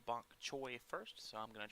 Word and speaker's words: Bonk Choi: I was requested to do, I believe the name is pronounced Bonk Choi first, so I'm going to try to draw an art in their style.